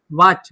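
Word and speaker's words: watch: WHCH, वॉच, वॉच में क्या है, टी साइलेंट।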